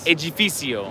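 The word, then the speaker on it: edifício: Edificio. Yeah. So the C is an S and the D is a G.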